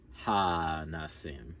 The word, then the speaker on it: Al HaNissim: There's just a touch of the like it's mostly Al Hanissim.